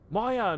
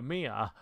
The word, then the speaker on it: Mia: what the hell yo maya no no mia i keep pronouncing the name wrong mommy this way right